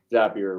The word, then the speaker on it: Zapier: Yeah, Zapier rhymes with happier.